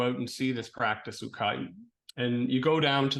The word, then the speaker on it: ukai: like anchors the book is the story of ukai and ukai is it's spelled UK AI um it's a form of